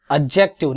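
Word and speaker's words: adjective: Noun, pronoun, एडजेक्टिव, नॉट एडजेक्टिव। याद रखिएगा ए और जी के बीच में डी जब भी आता है वो साइलेंट होता है, इसलिए एडजस्ट होता है, एडजस्ट नहीं होता है।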